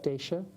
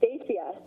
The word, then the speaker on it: Dacia: Did I pronounce it correctly? Dacia? Oh, it's Dacia.